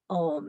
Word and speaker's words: Om: We're going to begin the class chanting Om. It is a sound of 3 syllables, A, U, and M.